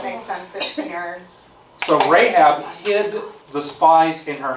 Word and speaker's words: Rahab: So they went and hid in a prostitute's house, a prostitute by the name of Rahab.